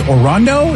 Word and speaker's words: Orondo: Orondo? Is that how you say it?